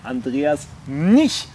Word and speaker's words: Andreas Mnich: ...198 Likes auf der Facebook-Seite, der Gewinner des Lost Places Wettbewerb, Andreas Nich. Richtig ausgesprochen?